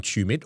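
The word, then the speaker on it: Tumut: Well, this is a call out to anyone listening to this who is from Tumit or knows someone from Tumit.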